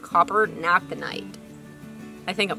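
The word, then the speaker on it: naphthenate: i'm pronouncing that right not the night it's funny that different reasons here different regions pronounce things differently uh pronounce things differently so we would call that copper naphthanate uh coppernaphthonate yeah to speed up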